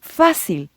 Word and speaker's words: fácil: For example, let's take the word fácil. Does it end with a consonant not including N or S? Yes, it does. That means the emphasis should technically be on the last syllable. That would be fácil, but pronounced correctly, the word should be fácil, not fácil. Since this word doesn't follow the rule, an accent is needed above the A, fácil.